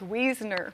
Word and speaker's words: Wiesner: pass along so early used to but it's weasoner it is wheezing all right wonderful all right